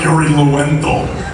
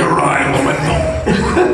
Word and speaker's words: Yuri Lowenthal: I'm Yuri Lowenthal. That's how you pronounce it, right? That is exactly right. Lowenthal? That's exactly right. Uri Lowenthal.